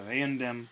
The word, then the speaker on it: eandem: And then in the accusative, instead of eumdem, that m has shifted when followed by a d to an n. So it's merely a shift in pronunciation, not actually a shift in form. So eandem, eandem, idem.